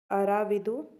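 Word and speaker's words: आरविडु: अब इसके बाद आता है लास्ट वंश, दैट इज अराविदु वंश। अरविदु वंश भी बोल सकते हैं इसको, प्रोनाउंसिएशन है बस, स्पेलिंग तो वही सेम है।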